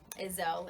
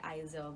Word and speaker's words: Izel: Izel is how you say it. I know a lot of people say Izel, but hey, controversy's fun, right?